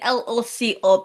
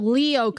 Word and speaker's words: Lyoko: I was thinking LOCO because loco. No, Lyoko. Yeah. The Y is not self-explanatory.